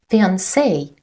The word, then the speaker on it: fiancé: Fiancé, a woman who is engaged to be married. Fiancé, a man who is engaged to be married. Pay attention that pronunciation is the same, but spelling is different.